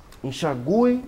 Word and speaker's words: enxaguei: o assento foi retirado porém não há modificação qualquer na pronúncia continua enxu enxaguei o chão que aliás